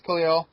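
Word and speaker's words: Kalil: Number 99 was Ryan Khalil, or Kala, or however you say it. Yeah, you said it right. It's Khalil.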